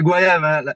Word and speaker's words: Goyave: C'est c'est Guayave la prononciation. Guayave. D'accord. OK. Comme comme voyage.